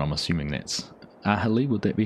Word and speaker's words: Aghalee: The G is silent. I'm assuming that's Aghalee.